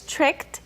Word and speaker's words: tricked: gonna look at is tricked even though it ends in a D that D sound will change to become like a tea when you pronounce it tricked tricked me tricked